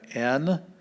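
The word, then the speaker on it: ἐν: words like this but we have n with a epsilon and a smooth breathing so it's just pronounced n and it means n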